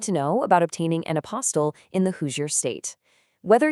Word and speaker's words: apostille: It's a kind of strange word, right? Pronounced apostille. It actually comes from a French word meaning a marginal or bottom note.